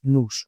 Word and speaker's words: Nous: familia de modelos de Nous Research. Digo Nous, que suena un poco raro, se escribe N-O-U-S. Nunca he sabido si esta empresa quiere que se llame Nous, Nous o Nou, como nosotros en francés.